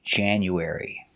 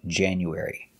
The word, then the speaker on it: January: the american pronunciation of january so we start out jan the a sound is the short a like apple and black cat but this sound changes before an n or an m it's before an n